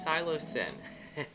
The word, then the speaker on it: psilocybin: it the scio silo i'm going to give this too many syllables the cylo been cylip and xylibin silo sin it is silo sin sorry and the silasin